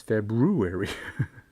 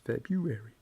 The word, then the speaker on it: February: Some people are like, no, it's not February. There's no, you don't pronounce the second R. It's February. But there's an extra R. No, there's not. Don't do it, man. Do not pronounce that R.